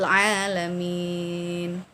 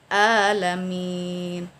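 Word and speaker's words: العالمين: Ketika kita tidak membaca ain tetapi membaca hamzah alamin, terjadi perubahan makna Rabbil Alamin, Tuhan semesta alam. Sedangkan Rabbil Alamin, Tuhan yang berpenyakitan, Tuhan yang maha penyakit.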